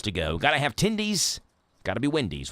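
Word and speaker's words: Tendys: It's fun to say, but they're even more fun to eat, especially since Tindy's rhymes with Wendy's.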